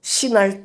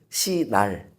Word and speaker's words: 시날: 신할 땅으로 던져 버리라고요, 여러분. 신할 땅 하면은 기억나는 사건 없으십니까? 발음을 잘해하셔야 돼요. 발음을 시날 시날 땅은 여러분 창세기에 나오는 바벨탑 사건이 일어난 땅입니다.